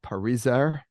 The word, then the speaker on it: Parizer: Okay, welcome to the Wildes cast, and I want to thank my guest, Maya Parizer. Did I pronounce that correctly, Maya?